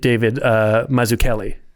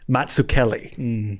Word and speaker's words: Mazzucchelli: you can see sorry, I got to pronounce it correctly. He's Italian. Mazzucchelli. It's not Mazzucchelli. It's Mazzucchelli. Yeah.